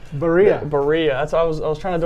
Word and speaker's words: Berea: And Coach, can you help me pronounce Berea? Berea.